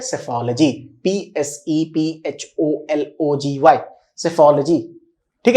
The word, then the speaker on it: psephology: उसको हम बोलते हैं सेफोलॉजी, PSEPHOLOGY, सेफोलॉजी, ठीक है।